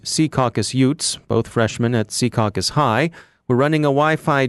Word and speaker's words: Secaucus: jamming the Wi-Fi at Secaucus high school our North Jersey desk by the way insists that we use the old-school local pronunciation Secaucus as opposed to the trendy Secaucus favored by recent arrivals who lack knowledge but